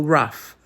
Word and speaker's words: rough: Mas e quando o GH tem som de f, como é enough ou rough?